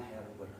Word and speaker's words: Gerber: yang bernama Insinyur Johan Herber. Ditulisnya Gerber, dibacanya Herber. Karena ejaan Belanda, dia dibaca he, seperti gratis jadi haratis gitu ya.